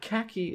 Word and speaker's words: khaki: Well, khaki is interesting because khaki has an aspirated K and an unaspirated K.